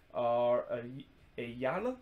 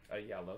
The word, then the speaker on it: Ayala: Argentine youth international David Ayala. I think that's how you pronounce it. And I think it's actually pronounced David Ayala because, you know, he is Argentine.